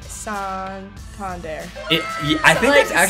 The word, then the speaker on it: Santander: Anthony Santander.